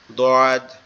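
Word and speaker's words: ض: আর এটা উচ্চারণ হবে কোথা থেকে, এটা উচ্চারণ হবে আমাদের জিহ্বার গোড়া উপরের মাড়ির দাঁতের গোড়ার সঙ্গে লাগায়, ডান পাশের উপরের মাড়ির দাঁতের গোড়ার সঙ্গে লাগায়। দোয়াদ, দোয়াদ, দোয়াদ, দোয়াদ, দোয়াদ, এরকম ভাবে, ঠিক আছে?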